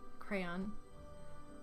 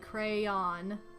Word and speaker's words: crayon: of that no okay how do you pronounce crayon with one syllable rhymes with man crayon two syllables sounds like crayon i'd probably be